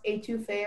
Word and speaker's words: étouffée: It's pronounced étouffée or étouffée.